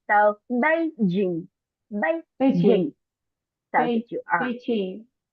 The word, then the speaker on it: Beijing: have a tone because English do not have a tone. We just have a stress. So Beijing, Beijing. Beijing.